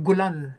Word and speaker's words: Golan: ngayon ito'y tinatawag na golan heights at ang at ang pagka Pronounce pronounce ng mga mga Dios diyan o ng mga israeli ay gulan ay ganyan ang kanilang pagka pagkabanggit diyan ay nasakop ng mga